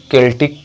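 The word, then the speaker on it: Celtic: तो आयरलैंड में इस रिनेंसा को एक अन्य नाम से जाना गया है सेल्टिक रिवाइवल, या फिर कुछ लोग इसका प्रोनाउंसिएशन केल्टिक रिवाइवल भी करते हैं।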